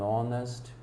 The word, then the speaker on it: honest: mudo, o anour anh honest, ah, anh honor, uma honra, então uma pessoa honesta. você consegue colocar o N aplicado, mesmo com todas essas palavras iniciadas com H, porém o H é mudo.